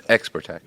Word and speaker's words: Xperteks: How did you kind of navigate that throughout the course of Xperteks, and are you happy where it has landed now? So it's funny you say Xperteks. It's Xperteks.